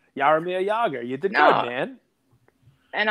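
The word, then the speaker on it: Jaromír Jágr: It's a silent J. Jogging? Yog. Yog. Yarmir Yager.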